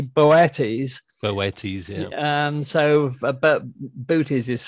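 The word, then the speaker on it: Boötes: pronouncing that word because I call it booties. I've heard people call it boots because it's got normal out on the second O. It should more correctly be Boetes.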